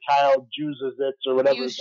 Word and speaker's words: Juszczyk: be able to say his name right, Kyle Juszczyk or whatever his name is. Juszczyk. I can barely pronounce my own last name, which has a lot of consonants in it also. Juszczyk?